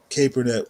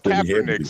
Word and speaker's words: Kaepernick: larger picture so I'm okay that you think keret was a a leader it's it's Kaepernick Stanley it's Kaepernick Kaepernick well I'm pronouncing it kernick now for cap that's probably